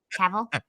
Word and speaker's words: Cavill: Cavill.